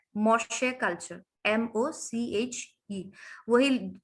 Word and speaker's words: Moche: Number 3 में है मोशे culture, MOCHE, वही जो लोग मतलब कॉफी पीना पसंद करते हैं आपके जैसे, इसका मौका नहीं ये, बट ये मोशे है, MOCHE कल्चर।